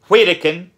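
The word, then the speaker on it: Widukind: His father was Wittikin, however you want to pronounce it, but I've mainly heard it pronounced Wittikin, King of Saxony.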